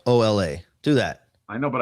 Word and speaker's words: Mignola: Oh, it's like the Enya, Mignola. No, I can't. I'm gonna do it the way. Just think Minyola.